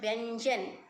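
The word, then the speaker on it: व्यंजन: In English we call consonants, in Hindi we call it vyanjan. V-Y-A-N-J-N I have written because so that you can pronounce it properly after reading this.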